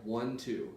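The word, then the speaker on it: Wun Two: It's an artist called 1-2. Now it's not the number one. It's spelled weird, so I'm gonna preface that.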